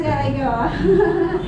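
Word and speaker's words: galangal: Yeah, that's galango.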